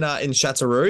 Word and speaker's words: Châteauroux: Châteauroux, yes. I'll tell you what, Ben, your pronunciations for words is spot on.